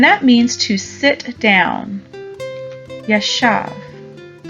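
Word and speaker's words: ישב: at our three new words foreign is yashav yeshav is spelled yod Sheen vet yeshav and that means to sit down yashaf our next new word is shafat shafat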